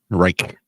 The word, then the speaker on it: Reich: Robert rch R re how do you say his name um re Wright thank you Reich Reich Republic the Republic